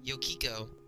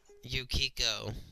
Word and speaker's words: Yukiko: Moon looking character oh yo Kiko I know I pronounced her name wrong several times but I was a little sick so forgive me guys you Kiko Yukiko Yukiko yeah right I forgot this